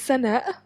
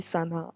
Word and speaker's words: Sanaa: to intern Internationals so my name is Sana you make a full stop at the end but if you can't